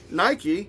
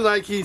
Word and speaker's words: Nike: So I decided to try Nike, or Nike as the British say.